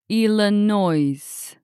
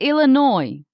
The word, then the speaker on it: Illinois: I'll carefully practice Illinois. But people will correct me right away. It's Illinois. The S is silent.